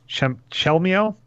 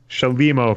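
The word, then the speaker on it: Chelimo: All right, my shout-out, I hope I get the name right, is to Paul Chelmio. I think I butchered that. Looks like Shalimo. Shalimo, thank you.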